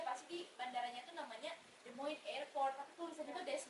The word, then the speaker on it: Des Moines: sebenarnya itu normal kok, karena bahkan banyak kok orang yang nggak tahu how to pronounce Iowa, dan jangankan Iowa. Jadi ibu kota Iowa itu adalah Des Moines, cuman ditulisnya itu Des Moines.